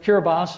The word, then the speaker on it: Kiribati: And Kiribati, or the way it's spelled is Kiribati, has 110,000 residents, and they are already set to move to some of the islands in Fiji.